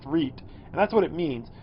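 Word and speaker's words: REIT: reap and it's how it's how it's pronounced read and that's what it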